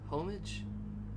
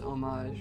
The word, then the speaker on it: homage: Homage? I'm pretty sure that would be pronounced homage, right? An homage.